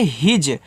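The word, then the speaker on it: his: तो एच के बाद ही आई एस इसको आपको हिज पढ़ना है।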